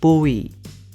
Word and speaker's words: buổi: I think buổi is quite tricky for most non-native Vietnamese people. So let's say bu and e separately, then combine them and speak them very quickly. For example, buổi, buổi, buổi, buổi, buổi, buổi.